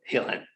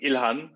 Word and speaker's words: Ilhan: the show uh welcome again to the show helen thanks for having me mike um ilhan but you know it's all good uh i